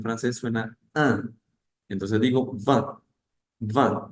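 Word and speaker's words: vingt: es el número 20 esa t no suena esa tampoco va va el número 21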